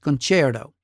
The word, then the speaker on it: concerto: It looks like concerto, but is pronounced concerto.